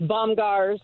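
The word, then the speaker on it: Bomgaars: Bomar bomb well I said it wrong it's bombars and they they took over it's kind of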